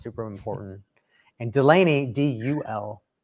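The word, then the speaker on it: Dulaney: And Delaney, D-U-L. A lot of people will pronounce it with D-E, but it's D-U-L, Delaney, D-U-L-A-N-E-Y.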